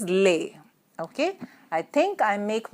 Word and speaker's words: les: with an S Lika here the pronunciation is leh okay I think I